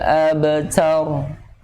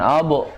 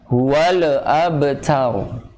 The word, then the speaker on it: الأبتر: Inna syani'aka huwal abtar. Nah, ini ab, bukan abu, tapi ab. Ya. Namun sebelumnya juga perhatikan huwal. Nih hati-hati nih, lam sini sering terjadi kembali tektok alias kol-kolah. Huwal abtar.